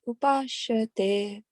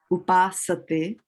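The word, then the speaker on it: उपासते: So it is not a sha, it is a upasate. It is a Oh, okay, upasana. upasate. Yeah, you know the word upasana, yeah, upasana. So this is the same thing, upasate, right?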